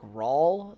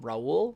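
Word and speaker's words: Raúl: like for the years i called a a puerto rican gentleman on uh facebook rawl uh when it was um raul because i'm an idiot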